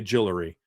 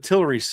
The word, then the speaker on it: Tillery: I was going to say Jillery. Half of Tillery's sacks came in one game that year as well in 2018.